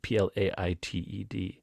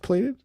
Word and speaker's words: plaited: blank something platted plated p-l-a-i-t-e-d yeah is it pronounced plated I think it's plaited I would have said